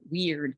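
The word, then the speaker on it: wyrd: and this is where the word w-y-r-d pronounced weird comes in so I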